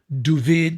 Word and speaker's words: David: in the States named Duvid, they pronounced David Duvid, uh, Gerinkle.